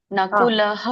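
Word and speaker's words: ನಕುಲಃ: ಅಕ್ಷರ ಆದಮೇಲೆ ವಿಸರ್ಗ ಬರುತ್ತೆ ಇಲ್ಲಿ ಮಧ್ಯದಲ್ಲಿ ಏನಾದರೂ ವಿಸರ್ಗ ಬಂದ್ರೆ ಅದನ್ನ ಲೈಟಾಗಿ ನಾವು ವಿಸರ್ಗದ ಉಚ್ಚಾರಣೆ ಮಾಡಬೇಕು ಅಂದ್ರೆ ನಕುಲ ಸಹದೇವಸ್ ನಕುಲಹ ಅಂತ ಹೇಳಿ ಒತ್ತಿ ಹೇಳಂಗಿಲ್ಲ ಸ್ವಲ್ಪ ಹೇಳಬೇಕು ನಕುಲ ಸಹದೇವಚ ಆಮೇಲೆ ಇದು ಸಘೋಷ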